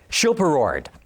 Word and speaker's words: Schilperoord: been saying this right at all this week chill per word well you came pretty close it's super awards but I don't think anybody outside of holland's can pronounce that correctly super roared yeah is that right okay every time I